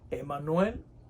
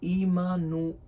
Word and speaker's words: Imanuel: hoy hemos aprendido que la palabra Emanuel no es la más correcta lo más correcto es en cuanto a pronunciación y ha significado es imanuel o sea Dios con